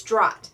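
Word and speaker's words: Dragt: It is D-R-A-G-T. Some thought the T was silent. Some thought the G was silent. Chrissy is the first one who said, oh, I think the G is silent, and it's Drott.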